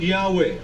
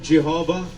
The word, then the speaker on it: Yahweh: While inclining to view the pronunciation Yahweh as the more correct way, we have retained the form Jehovah because of people's familiarity with it since the 14th century.